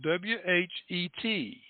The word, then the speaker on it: whet: Now, the word whet here is spelled W-H-E-T. And that's, you ever heard of a whetstone, where you sharpen your knives?